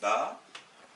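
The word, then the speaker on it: بَ: Avec un petit trait, avec la fatha, je dirais B plus A, ça fait Ba.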